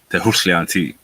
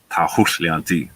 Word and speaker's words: Tehushlianti: an Apache name, which I'll try again not to butcher. Like I kind of butchered the last time when I listened to it, but I'll try to say it better this time. Tehushlianti. No, I said it wrong again. Let me try it one more time. Tehushlianti. There we go. I said it better that time, which means she who